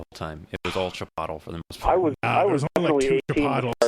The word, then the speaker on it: Chipotle: being able to pronounce Chipotle oh yeah there's so many different ways some some some of them were like chipot Chipotle Chipotle Chipotle Chipotle that's the right way uh Chipotle wasn't I